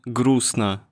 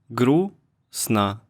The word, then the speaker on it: грустно: Like in лестница, лестница, or in грустно, грустно. But when it's surrounded by vowels, you always read it. Sometimes we don't pronounce it when it's right at the end, just like in English, right?